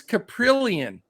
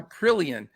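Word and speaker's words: Kaprielian: that I can never say his name, James Caprillion. Did I say it? Got it? Yeah, you nailed it. All right, yeah. Caprillion, 5.8K for the A's.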